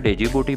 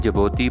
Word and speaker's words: Djibouti: पाए जाते हैं दोस्तों यह मुल्क इंग्लिश में डेजी बूटी पढ़ा जाता है जबकि मुकामी जुबान में जिबोती पढ़ा और लिखा जा जाता है इसमें डी साइलेंट हो जाता है यह मुल्क 1887x मछलियों